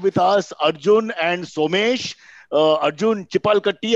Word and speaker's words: Arjun Chipalkatti: Arjun Chipalkatti, have I pronounced it correctly? Yes, perfectly.